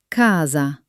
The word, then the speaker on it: casa: When C is followed by the vowels A, O, or U, it is hard. It sounds exactly like the K in kite. Listen. Ca. Co. Cu. For example, casa.